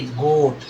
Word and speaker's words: goat: क्योंकि ए क्या हो जाता है? ए साइलेंट हो जाता है, पढ़ा जाएगा ये गोट, ठीक है, ऐसे।